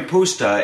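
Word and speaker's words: puszta: dish that originated on the Hungarian poua and that's spelled p u s ZTA and the Hungarian pusta is this large area of grassland that is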